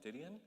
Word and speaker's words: Didion: Yeah, I mean, Joan, I always mess up her last name, Didion, is that how you say it?